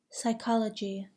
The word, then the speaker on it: psychology: Do not pronounce the P in the following words: pneumonia, psychiatrist, psychic, psychology, psychotic, receipt.